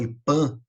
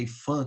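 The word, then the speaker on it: IPHAN: O IFAM, se alguém nunca ouviu falar, tem gente que fala IPAM, mas na verdade é IFAM que se pronuncia, é o Instituto do Patrimônio Histórico Artístico Nacional.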